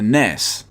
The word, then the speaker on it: NES: you call it the ness kind of like ness from earthbound was just recently Nintendo